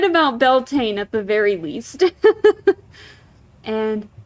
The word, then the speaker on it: Beltane: in the stone pillars so Yi in bulk Beltane okay I was right about Beltane at the very least and lunasa okay so I was right that that one's pronounced lunasa okay it was just so in